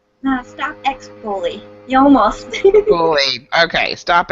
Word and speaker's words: Stop X Bully: So go in and follow Bree over there at her Stop X Bullying, right? Did I say it right? No, Stop X Bully.